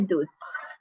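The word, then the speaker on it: thus: aku yang salah iya cara bacanya dus dus pakai D coba nih DAS DAS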